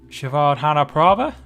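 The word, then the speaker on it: Srivaddhanaprabha: i take it euro from the vichai um shavard hanaprabha is how it's pronounced stream that was a long time ago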